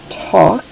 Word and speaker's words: talk: of a funny one they used to pronounce it with the l sound and it also talk but we don't say the l sound anymore talk and i'm not doing